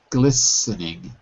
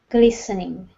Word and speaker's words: glistening: The T is silent. Glistening. Glistening.